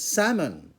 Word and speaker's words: salmon: call it salmon delight salmon you don't pronounce the l it's silent l okay a japanese restaurant